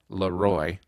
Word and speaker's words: LeRoy: all it's properly pronounced Laroy because it's a French word you're saying the king Laroy and the r is